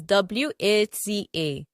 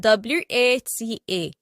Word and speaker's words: Wata: Our first example is Wata. There are 3 ways in which this word is pronounced. Wata.